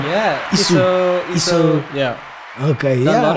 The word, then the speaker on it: Easu: Am I pronouncing your surname right? Yeah, Easu.